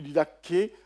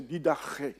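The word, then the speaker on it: διδαχή: français c'est didé ça c'est lu didé mais dans la prononciation c'est didaré didaré.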